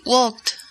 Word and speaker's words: walked: Así que, Cecilia, ¿cómo se pronuncia to walk en el tiempo pasado? In the past tense, you would say walked.